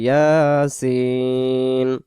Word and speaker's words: ইয়াসিন: ইয়াসিন, ইয়াসিন ইয়াসিন বলবো না আমরা, ইয়া এক আলিফ, সিনকে আমরা 4 আলিফ টান দিয়ে দেব, উচ্চারণটা করবো ইয়াসিন।